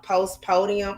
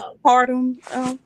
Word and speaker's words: postpartum: told her I think a post podium. How you say it? Uh, uh, Postpartum. yeah, postpartum.